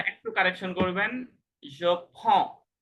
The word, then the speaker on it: prends: Font মানে to take, to take তো font two উচ্চারণটা ফন্ট একটু কারেকশন করবেন। je prends, টু prends, font font D, ডিএস উচ্চারণ হবে